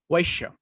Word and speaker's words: Vaishya: How do you pronounce that? Vaishya.